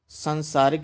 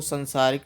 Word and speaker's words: सांसारिक: बालों की होता है सांसारिक बोलते हैं तो संसारिक नहीं होता साथियों सांसारिक होता है उत्पत्ति के वर्ण विन्यास